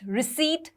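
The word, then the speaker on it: receipt: for example honest रिसीट subtle तो क्या होता है अगर हम साइलेंट लेटर्स को थोड़ा सा समझो ऑनेस्ट में एच साइलेंट होता है रिसीप्ट में पी साइलेंट होता है सटल में बी साइलेंट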